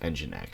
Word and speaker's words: nginx: build essential that is just oh and it's pronounced nginx so NGI anaxes that is the rtmp server